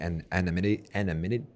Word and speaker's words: anonymity: you posted yesterday that was talking about like anonymity.